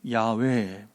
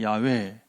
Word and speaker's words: 야훼: 우리는 또 이렇게 음역을 할 때 저바, 어려우니까 여호와라고 했고, 사실은 히브리 원문은 야훼, 여호와가 아니라 야훼.